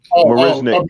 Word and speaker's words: Marisnick: How do you pronounce his name? Miss Marisnick? Marisnick. Jake Marisnick.